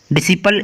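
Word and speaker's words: disciple: दूसरा क्या है डिसिपल, डिसिपल इसमें भी क्या है जो सी है वो एस के पहले बाद में लिखा है इसलिए सी साइलेंट है।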